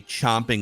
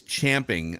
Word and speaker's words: champing: it's it's spelled Champion but I believe it's pronounced chomping most people say chomping like ca I know OMP as if you're chomping jumping out of it incorrect it's champing on the bit but anyway Champions at the